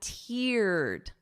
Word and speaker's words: teared: But listen to the pronunciation. I teared up. Ear. So I wrote it out phonetically for you. Ear. So that long E sound.